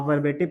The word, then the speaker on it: verb: आप वर्बल को देखो, आप वर्बेटिव को देखो, आप वर्बोस को देखो, क्या सीखने को आपको मिल रहा है? एक चीज कॉमन है, वर्ब। पहली चीज तो आर साइलेंट होता है, इसको वर्ब पढ़ते हैं।